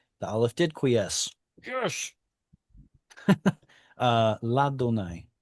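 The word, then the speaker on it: לַאדֹנָי: front of Yod He Vav He, and I pronounced it as La Donai. The aleph did quiesce. Yes. La Donai.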